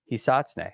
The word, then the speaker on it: Hisatsune: H-I, then S-A-T-S, U-N-E, Hisatsune.